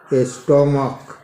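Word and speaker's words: stomach: CH का उच्चारण क के जैसा हो तो उसमें सिर्फ एस जोड़ा जाता है, जैसे स्टोमक, स्टोमक्स।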